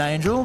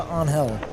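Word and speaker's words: Ángel: They call him Angel, but um I believe the the native pronunciation is closer to Anhell.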